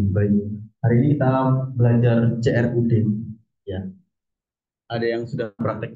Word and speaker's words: CRUD: buat satu folder namanya crud crut gitu ya bacanya crud nah isinya ee lumayan banyak ini karena saya ini juga ngambil dari eh skpnya orang ya ini ada crud SQL kalau yang teman-teman